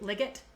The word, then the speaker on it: Liggett: year by kim liggett legit liggett i'm gonna say it's a hard g because there's two of them okay this i actually